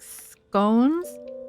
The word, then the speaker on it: scone: Um cuz I think our biscuits are more like scones, which you guys pronounce as scon.